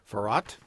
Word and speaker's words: Faurot: Farot? Yeah. I would say Farot.